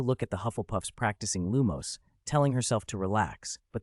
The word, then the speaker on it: Lumos: That's not how you use Lumos! 40. Which serious little badger is walking at night? Pruning spell promotion. Even though your spell is Lumos, your syllables aren't stressed right. It's Lu-mos.